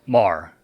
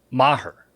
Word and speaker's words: Maher: the Cowboys kicker Brett Marr yeah that's his name yeah no it's not pronounced Mar it's pronounced Maher right like I'm going to murder you after the show yeah